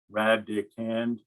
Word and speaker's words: radicand: radicand all right again radicand is just a number under the rack rad dick hand three syllables number under the rapid